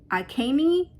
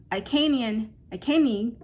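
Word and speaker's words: Agni: I believe it's pronounced Akani, gives the fires to purify blessings.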